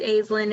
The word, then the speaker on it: Aislin: love your names um is it right thank you yes it's Aslan it's an Irish name love it all right